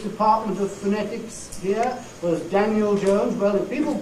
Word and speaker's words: Daniel: of phonetics here was Daniel Jones well if people call him not Daniel but make that e in this last syllable into a clear vow instead of reduction right if they actually